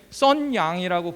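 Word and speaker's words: 沈阳: 여기 중국의 썬양이라고 보이세요? 우리나라 평안도에서 가까운, 지금 우리가 심양시라고 하죠. 심양. 그게 중국 발음으로 썬양이에요.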